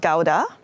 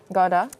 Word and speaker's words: Gouda: there when i went it's pronounced gauda gorda yeah when i go to the store and say i'm looking for gouda i beat malula because